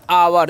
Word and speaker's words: our: तो इसे आउर नहीं पढ़ना है, इसे पढ़ना है आवर। यहाँ पर OU का उच्चारण आव होता है।